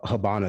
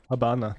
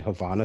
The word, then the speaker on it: Havana: i mean it seems like they did uh habana syndrome habana habana that's how it's pronounced i've heard people pronounce it havana syndrome but it's actually hub syndrome what about